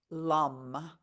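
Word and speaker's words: Lam: mentally repeat the Mantra Lum it rhymes with gum but it starts with an L drawing out the last sound the root chakra is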